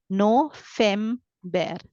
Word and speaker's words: November: be very careful here I don't have V sound instead I should read it as F sound yeah so I read it is no fem bear no feem bear no